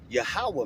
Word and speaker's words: Yahawah: For those who don't know, the heavenly father name is Yahawah, man. All right? And that's how you pronounce it in the PaleoHebrew.